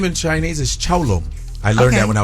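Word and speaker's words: 成龍: His name in Chinese is Chao Long.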